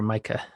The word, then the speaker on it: Mika: Oh, I wanted to ask, is it pronounced Mika or Micah? Which? Mika.